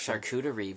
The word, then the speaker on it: charcuterie: four oh so i don't know how to pronounce it and people make fun of me every time i'm not rough charcuterie board charcuterie yeah he made charcuterie um get